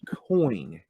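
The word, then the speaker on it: quoin: it's an architectural design is called a coin c-o-i-n like a coin spelled with a Q Q u i n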